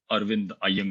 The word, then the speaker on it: Arvind: to Janes for organizing this conference I normally pronounce my name arind AAR but really I won't be offended if